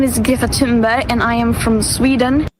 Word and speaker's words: Greta Thunberg: My name is Gatimbe and I am from Sweden. Well, firstly, we've all been saying it wrong. I I mean, I know. That's an unsayable sound.